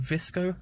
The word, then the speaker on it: VSCO: I use an app called Visco, I think is how you say it.